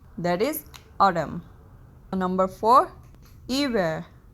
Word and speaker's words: hiver: Number four, hiver, H is silent here, that is winter.